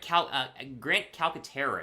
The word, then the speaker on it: Calcaterra: Grant Calcaterra is how you say his last name, the tight end out of SMU, formerly from Oklahoma.